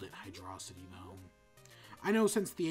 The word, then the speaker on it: Hydrocity: you by the way it's actually hydrocity just it's not hide raza t no that's that's not how English works you feel like I didn't know anyone who called it hydrocity no I know since